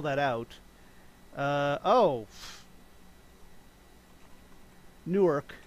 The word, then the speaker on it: Newark: that out uh oh newark new jersey which sounds like new york but it's a different city that also has its